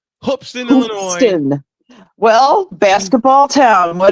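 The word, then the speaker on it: Hoopeston: that beats my South Carolina Gamecocks what folks hoopson Illinois hoopson Illinois I gotta say it right hopston Illinois well basketball town what do you know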